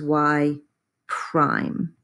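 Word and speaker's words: y′: you did and that notation is y Prime that's how we pronounce that y Prime and when you see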